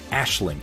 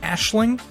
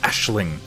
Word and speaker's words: Aisling: thank you so much like i knew i wasn't pronouncing it right but then if you look at something gaelic and you just pronounce it how it looks you're guaranteed to be getting it wrong it's like trying to